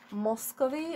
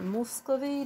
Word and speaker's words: Muscovy: with the notion of moscowi or muscovy depending on how you pronounce the word the thing is um